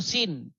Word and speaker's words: Sin: Sin ya atau Suen bahasa Akadia atau bahasa Enzu ya dibaca dipronounce sebagai Suen atau Sin.